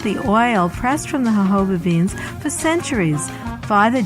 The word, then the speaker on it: jojoba: medicine chest will discuss jojoba the miracle plant of the desert jojoba is spelled jo-jo ba but is pronounced according to its Spanish origins the hobo plant grows in the